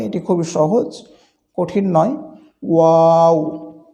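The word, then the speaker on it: واو: ওয়াও হরফটি দুই ঠোঁট একটু গোল করে এটি উচ্চারণ করতে হয়। এটি খুবই সহজ, কঠিন নয়। ওয়াও, ওয়াও।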